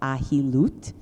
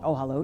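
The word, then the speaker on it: Ohalot: Mishnah in a hollows which probably should be pronounced aji loot because it means tenting over something for the purposes of two but we call it Oh hallo because we like tents I guess the Mishnah and Olo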